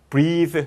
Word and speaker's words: breathe: breathe, 발음 다르죠? 그리고 동사예요. 동사. 얘가 없으면 명사가 되고 얘가 있으면 동사가 돼요.